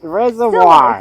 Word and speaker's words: reservoir: Reservoir. Stillwater. Reservoir. Forget the E.